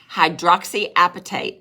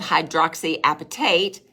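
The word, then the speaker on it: hydroxyapatite: demonstrated that Nano preparation hydroxyapatate now I've Googled how to spell that and it just cracked me up because it sounds like appetite right you eat the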